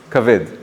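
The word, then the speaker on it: כבד: And how do you say liver in Hebrew? I said it before. It's kaved. What is kaved?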